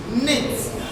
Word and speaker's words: knit: The next one is knit. K is silent.